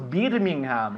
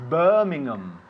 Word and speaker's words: Birmingham: No decimos Birmingham, it's Birmingham.